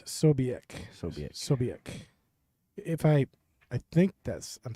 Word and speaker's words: Ksobiech: he was going to pronounce it with a K, and somehow his mind knew to keep the K silent.